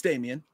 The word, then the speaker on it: Damien: Is it Damien or Damon? It's Damien. I think it's Damien. Yeah, I think it's pronounced Damien. God, what an overrated fucking actor that guy is.